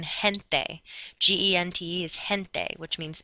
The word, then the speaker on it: gente: If G, E, or G, I is in a combination together, then it's pronounced like the letter H, like in gente.